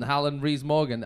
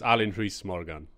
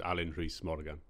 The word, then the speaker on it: Alun Rhys Morgan: not actually no it's Alan Rees Morgan but Morgan yeah yeah so you just say Alan is fine oh okay yeah it's absolutely fine but yeah the Welsh pronunciation is Alan Rees Morgan ah but is there